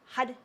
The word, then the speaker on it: Har: use for that is had, had, had. So it's spelled H-A-R, but it sounds like a D. Had, had, had. And it's the top of the tongue strikes the roof of the mouth. Hud, hud, hud, hud.